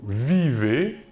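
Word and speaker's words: vivent: vivons à la deuxième personne du pluriel vous vivez et enfin à la troisème personne du pluriel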